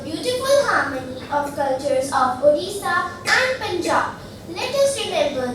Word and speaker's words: Odisha: along with Punjab or is a very good odisha that is how we pronounce it now can you tell me